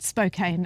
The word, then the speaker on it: Spokane: Well, not like cocaine, but Spokane as in spoke on a wheel on a bike.